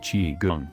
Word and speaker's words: qigong: Three of the most popular fitness trends to land in the West since the 1960s are yoga, tai chi, and qigong, pronounced qigong.